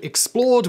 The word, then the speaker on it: XPLRD: Just before we jump into today's video, I do want to mention another channel that I run called Explored, which is spelt XPLRD because apparently I hate vowels.